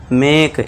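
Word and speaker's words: make: मेक ए का sound करना है।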